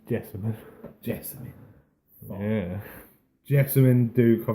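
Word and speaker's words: Jessamyn: yeah, I think is it technically pronounced Jasmine or it's just No, it's Jessamine.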